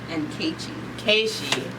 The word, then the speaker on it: N'kechi: And I just want to pronounce the name right. You said N'kechi. N'kechi.